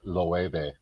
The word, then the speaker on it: Loewe: Yeah, So that's pronounced Loewe, there we go.